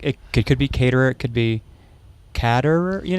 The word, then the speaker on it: Caterer: We are here with Caterer. Is that how you Yes, pronounce it?